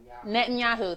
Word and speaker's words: Netanyahu: yawn oh oh my god how do you pronounce it Netanyahu thank you judge address a conference of foreign